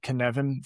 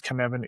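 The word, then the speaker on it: Cynefin: Snowden who has the Knevan framework and this will have to go into the show notes because KVan is not spelled the way it sounds. It's a Welsh word.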